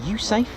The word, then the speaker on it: USAFE: Here's a United States Air Force in Europe base, pronounced USAFE.